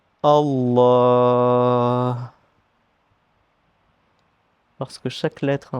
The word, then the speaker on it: Allah: Donc, on va insister sur le sur le L. Allah Allah parce que chaque lettre